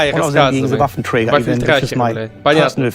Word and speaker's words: Waffenträger: And when I hear myself saying Waffenträger, it sounds actually very odd to me. I should say Waffenträger That's the only way how to pronounce it.